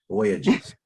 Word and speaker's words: Voyages: hello uh greetings everyone my name is voyages like you take a voyage trip somewhere voyages yes yes um thank